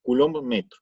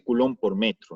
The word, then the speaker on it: coulomb metro: La unidad del momento dipolar eléctrico es el coulomb metro, así se pronuncia, coulomb metro. No se dice coulomb por metro, ¿no? Es coulomb metro.